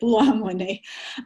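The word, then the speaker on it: Buolamwini: Sorry, Joy, I do know how to say it, Belluamwini.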